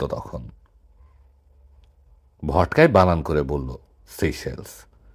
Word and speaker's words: সেশেলস: রুদ্র, বললাম, সিকেলস। তাও নয়। নয় কেন? কারণ শব্দটা ফর্সি, উচ্চারণ সেশেলস।